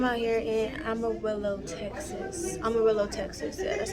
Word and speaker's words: Amarillo: Amarillo, Texas.